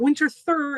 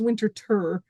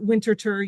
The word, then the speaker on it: Winterthur: As you heard Gary saying, this is not Winterthur, it is Winterthur. Although even at Winterthur, you get multiple pronunciations. There are many who call it Winterthur.